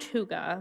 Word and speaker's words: hygge: without even knowing it it is pronounced hygge while you see it there the Danish concept cannot be translated into